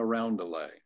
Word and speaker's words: roundelay: nubile girls sing a roundelay. Roundelay is the right way to say it, roundelay.